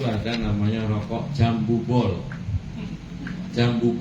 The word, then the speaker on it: Jambu: Jambu pol itu tulisannya J A N B U Ju tapi bacanya jambu.